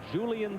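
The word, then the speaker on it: Julián: And Julian Tavares, and Julian is the way he prefers to have it pronounced, comes in.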